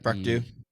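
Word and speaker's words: Dieu: How do you pronounce his name? Brock Dew. D-I-E. Brock Dew. Do.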